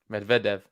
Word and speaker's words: Medvedev: as well I'm sure Medvedev yeah I don't know it's emphasis is always on the middle part I can it's tough